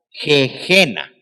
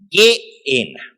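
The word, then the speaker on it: Gehena: Así que cuando leemos G-E-H-E-N-A, Geena, no la traten de pronunciar Gejena o Geena, es Geena.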